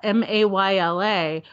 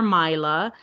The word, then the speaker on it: Mayla: You can also pronounce it Mayla or Myla.